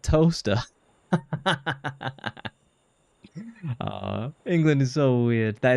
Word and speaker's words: Towcester: You pronounce it toaster.